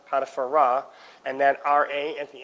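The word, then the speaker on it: Potiphera: She's the daughter of Potiphar, not Potiphar, Potipharah, and that R-A at the end of it means of Ra.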